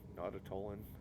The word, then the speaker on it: Nautolan: of these guys yet I don't think no not at Olin is how you pronounce that not at Olin I'm not I'm